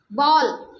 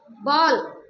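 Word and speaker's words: ball: बॉल, इसका pronunciation क्या होगा? बहुत लोग बोलते बाल, यहाँ पे ए देख लिया तो बोल देंगे बाल, नॉट बाल, बॉल। ये जो हमारी टंग है वो राउंड करेगी।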